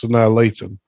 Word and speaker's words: Sanaa Lathan: can never figure out how the fuck to pronounce her name. It's Sanaa Lathan.